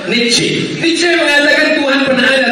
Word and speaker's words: Nietzsche: Tulisannya payah mingin. Pokoknya jauh membacanya Nietzsche.